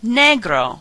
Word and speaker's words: negro: grow instead of saying no grow say negro which almost sounds like negro black different forms negro